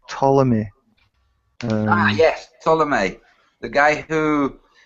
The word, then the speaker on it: Ptolemy: So that was Ptolemy, spelt with a P for some reason at the start.